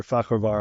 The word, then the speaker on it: Fakhravar: And that's why we invited Amir Fakhravar on the show. Amir, welcome to the show. Thank you for having me, and thank you for pronouncing my last name perfect.